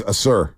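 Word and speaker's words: Ausar: uh amen amen and then how do you pronounce his brother's name uh he's a sir a sir y the fact that they grew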